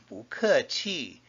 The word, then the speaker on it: 不客氣: When someone says, thank you, 谢谢, you can reply, 不谢, or 不客气, meaning you're welcome.